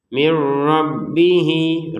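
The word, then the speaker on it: مِن رَّبِّهِ: Nah, di sini tulisannya min, di depannya ada ro, kita masukin nun sukunnya ke ro. Kan tulisannya min. Karena di depannya ada ro dimasukin ke ro terbacanya mir. Ya, dari min menjadi mir ya, tanpa dengungan. Beda sama yang di atasnya masukin dengan dengungan. Kalau ini masukin tanpa dengungan.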